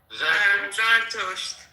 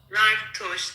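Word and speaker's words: زرتشت: Okay, Shiva, how do you say that religion in Farsi? Zartusht. Zashtos. There you go. Zartusht, yes. Yeah, see, you guys told you it wasn't a fucking Farsi word, Zoroastrianism.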